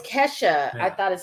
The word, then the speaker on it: Kesha: Keisha? It was Kesha.